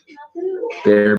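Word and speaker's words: Behr: Bear what?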